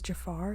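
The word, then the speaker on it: Jaafar: but his nephew's playing him his name is Jafar is how you pronounce it okay which uh people seem to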